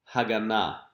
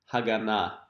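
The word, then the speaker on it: הגנה: And now we can say another Hebrew word, Haganah. Haganah, which means security.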